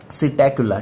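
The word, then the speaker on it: Psittacula: Parrot को अपन बोलते हैं सिटैकुला, ठीक है। सिटैकुला इसको बोलते हैं, पी साइलेंट होता है बेटा।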